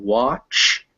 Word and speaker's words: watch: banan but banana now if it's after a w sound it's normally an ah unless it's followed by a k or a that's why we get words like want and watch but not wag um the this seems like a